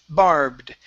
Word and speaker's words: barbed: So instead of barbed wire, this is barbed.